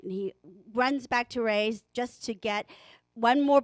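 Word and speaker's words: Rui's: party a special occasion you will see why raise is spelled rui apostrophe s um Shanghai Bistro is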